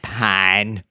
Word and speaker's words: Pyne: It's pronounced Pyne.